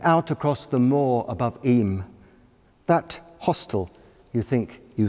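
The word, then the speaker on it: Eyam: little reference to that place pronounced eem but spelled e-y-a-m bizarly walking one moment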